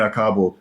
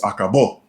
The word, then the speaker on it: acabó: So you got to say, it ain't acabo, it's acabó.